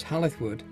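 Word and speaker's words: Hall i' th' Wood: hall in the wood pronounced locally as halith wood is a rare surviving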